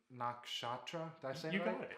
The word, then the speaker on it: nakshatra: for leo awesome so i have a really hard time with the word nakshatra i said it right for the first time if you want to say it a little different you can roll the r because that's what you're supposed to do in sanskrit yeah you got it